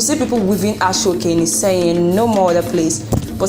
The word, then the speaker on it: Iseyin: So guys, you've known now that I'm from Iseyin, and please, it is pronounced as Iseyin, not Iseyin. Thank you. Notice, don't use British accent to pronounce it.